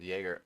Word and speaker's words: Jaeger: Jaeger in the series is Jaeger. Oh. Oh. Have I really been I've been pronouncing it wrong the whole time.